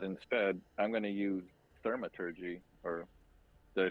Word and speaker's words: Thaumaturgy: I was going to use Mage Hand to try and deactivate something, but instead I'm going to use Thaumaturgy.